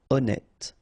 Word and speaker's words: honnête: So remember, H doesn't exist. Honnête. Horrifié.